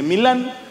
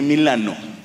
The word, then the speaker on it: Milano: ahí me explicaron que no se dice milán se dice milano yo no dije nada